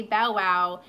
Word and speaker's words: Bow Wow: Cat Stevens um she calls him Bow Wow what do you guys it says he said that's how you pronounce his name is he was saying say Bow Wow and then it was thought that someone called him bow like bowing no mass in Ireland